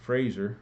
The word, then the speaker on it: Fraser: you can debt that Fraser rhymes with laser had considered that he